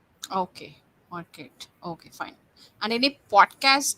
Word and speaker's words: Marquet: d l david marquette and the last name is spelled m-a-r-q-u-e-t okay market okay fine and any podcast do you want